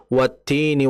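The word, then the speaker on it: وَالتِّينِ: Yaitu tadi contoh wattini wazzaitun, ti-nya dibaca panjang.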